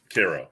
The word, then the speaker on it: Kyro: language i respect that so it's like illinois cairo like illinois oh yeah right yeah